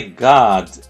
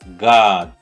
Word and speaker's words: God: My God. Pronuncie essa palavra, mas saindo daqui da garganta. God. God. Não é com som de A e nem com som de O. É uma mistura.